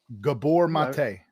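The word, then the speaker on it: Gabor Maté: Gabor Mate.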